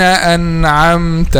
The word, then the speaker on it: أنعمت: of the Quran says أنعمت, and they make like this, bouncing the letter because it has sukun, and this is wrong. You have to say it like this: صراط الذين أنعمت عليهم.